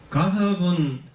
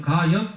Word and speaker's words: 가섭: 가섭은 거기서는 가엽 이렇게 적어놨잖아요. 잎사귀 엽자. 예. 근데 가섭 이렇게 해야 됩니다. 가섭이라고 읽어야 되는데 이런 게 한문이 이런 말이 불교가 어렵다 그러는 거야.